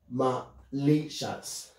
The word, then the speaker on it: malicious: So, malicious. And remember, you see, the stress is on the second syllable.